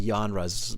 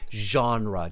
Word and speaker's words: genre: you changed it to genres but that's not correct so genre just repeat after me genre genre yeah it's a j sound genre genre okay all